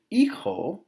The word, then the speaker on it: hijo: So you have el hijo, the son. Remember, it's not ijo.